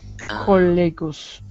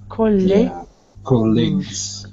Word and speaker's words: colleagues: So, Nure, it sounds like you're saying leaks, like a K, but it's a G, so it's leagues, colleagues.